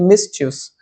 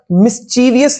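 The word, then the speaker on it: mischievous: ये मिसचस। इसकी प्रोनाउंसिएशन भी होती है मिस। मिसस। ठीक है ना? मिसविलियस नहीं होता ये।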